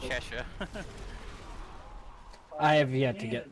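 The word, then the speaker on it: Chesa: C H S A C H E S A whatever. It's pronounced Chesha.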